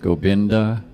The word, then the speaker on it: Gobinda: and I think that in India you know India they pronounce V's as B's and B's as B so we're calling it gopinda gopinda Hari Hari that's the